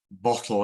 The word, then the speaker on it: bottle: now it mixes so normally when we say bottle it's the first syllable that's stressed and with hotel as